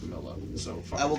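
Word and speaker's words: Milla: And I will call you Mia if you prefer, but your name is pronounced Mila, so fuck.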